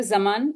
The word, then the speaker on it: Zaman: am in conversation with Zaman. Am I pronouncing your name correctly? There's Zaman. Zama. Zama. Okay.